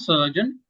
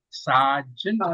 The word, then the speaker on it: sergeant: We say sergeant at arm. It's not surgeon, sergeant at arm.